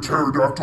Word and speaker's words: pterodactyl: can't you hear a pterodactyl use the bathroom because the p is silent first thing we're talking